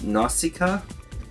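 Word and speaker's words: Nausicaä: got this um nos Nausicaa is how you pronounce it didn't find out till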